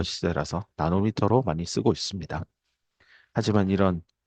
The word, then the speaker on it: h: 그다음에 플랑크 상수값 하라고 읽죠. H 아닙니다. 하.